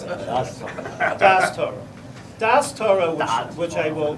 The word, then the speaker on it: Da'at Torah: And that's the topic of Da'at Torah. I can't even translate. First of all, you didn't pronounce it properly. How's it pronounced? Das Torah. I love how you Spartan pronounce it. Das Torah.